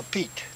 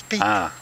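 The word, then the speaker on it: Pitre: Petrie, I'm a Pete. You're a Petrie? Yeah, I'm a Pete. A Pete? P-I-T-R-E. It's spelled Petrie, but it's Pete. Enunciated as Pete.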